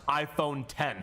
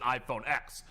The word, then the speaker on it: iPhone X: iPhone 10 I fit my belief is that it is correctly pronounced iPhone 10 how know this how